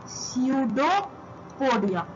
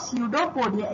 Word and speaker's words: pseudopodia: So basically इसमें जो पी है ये साइलेंट होता है। सो अगर हम इस पी को स्किप कर दें और अगर हम इसको डिवाइड करें तो ये होगा स्यूडोपोडिया, ये होगा स्यूडोपोडिया। इसमें पी साइलेंट होता है, पी को नहीं कंसिडर करते, ठीक है।